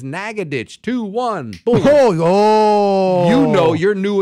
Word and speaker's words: Nacogdoches: oh thank God I happen to ask I said how do you pronounce this city is this Nacogdoches how do you say this no man is Naga ditch 2-1 you know you're